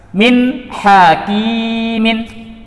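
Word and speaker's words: مِنْ حَكِيمٍ: Nun tersebut harus dibaca dengan jelas, min hakimin.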